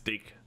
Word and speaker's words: Deke: date Drake steak cake it's deke am deke oh yeah like rhymes with steak yeah no no rod